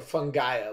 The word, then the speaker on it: Fungaia: Yeah, Fungaia, like Fungaia. Gaia. Yeah, like Gaia, okay.